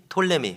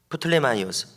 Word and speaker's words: 프톨레마이오스: 그래서 오늘날의 애굽 지역인 톨레미 혹은 프톨레마이오스 발음에 따라서 이렇게 달라지는데요.